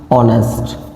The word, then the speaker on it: honest: अब इससे पहले मैं क्या यूज करूँगा आपका एन, और यदि यहाँ पर आ गया HONEST ऑनेस्ट, तो यहाँ H बेटा क्या है, साइलेंट है।